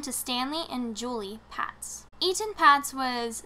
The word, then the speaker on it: Etan: I'm assuming it's like Ethan, so I'm saying Etan.